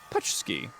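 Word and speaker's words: pączki: It's Polish pronounced pouchky.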